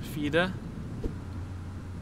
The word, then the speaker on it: fire: Like the word the word the number four in Norwegian is fida, but it's spelled like the word fire.